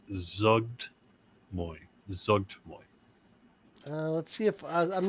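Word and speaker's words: Zuggtmoy: I recall when I was looking it up that it's almost like a silent apostrophe. So it's Zugtmoy.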